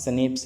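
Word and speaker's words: Schnapps: We have स्नेप्स, हमारे पास स्नेप्स है। स्नेप्स तो आप जानते होंगे, इसका प्रोनाउंसिएशन सही से पढ़ना आप लोग।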